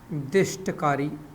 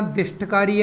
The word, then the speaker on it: दिष्टकारी: यह हो गया मेरा दिष्टकारी। ध्यान रखना, दिष्टकारी है, दुष्टकारी नहीं है। कई बार बोल चुका हूँ, दुष्टकारी नहीं है, क्या है? दिष्टकारी, रेक्टिफायर।